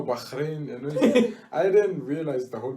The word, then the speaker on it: Bahrain: about how they say bahrain but as the locals say bahrain yeah and they say they they said you